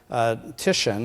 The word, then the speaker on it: Titian: What I'm starting with here is an image of a Renaissance painting that was painted by Titian, I believe is how his name is pronounced.